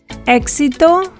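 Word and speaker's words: éxito: letters in a spanish word the ekkis is pronounced like the english ks sound but softer or less explosive exito explicar however there are other words with indigenous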